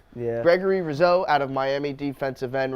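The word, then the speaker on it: Rousseau: say I was gonna say Gregory rose out of Miami did I pronounce that right yeah so Rizzo yeah Gregory Rizzo out of Miami defensive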